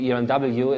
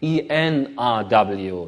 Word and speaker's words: ERNW: This is the company I'm running, ERNW, and even for Germans, pronouncing ERNW is a bit, say, a little bit difficult. Most people tend to say ENRW, not ERNW.